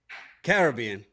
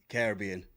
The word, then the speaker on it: Caribbean: But I need you to say Caribbean, not Caribbean. I know. Yeah. Yeah, Caribbean. Say it right.